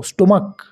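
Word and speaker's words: stomach: ঠিক একই রকম স্টমাক এস টি ও এম এস সি এইচ তাহলে লাস্টে আছে সিএইচ কিন্তু এর উচ্চারণটা হচ্ছে কর মতো স্টমাক তাহলে আমরা নরমালি এইচ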